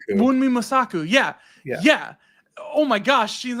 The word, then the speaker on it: Wunmi Mosaku: And then the one I just looked it up because I didn't want to mispronounce it. Wunmi Mosaku. Wunmi Mosaku.